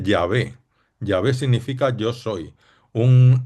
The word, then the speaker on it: Yahvé: Pues yo soy es como el nombre que Dios se pone a sí mismo, que en hebreo se dice Yahvé.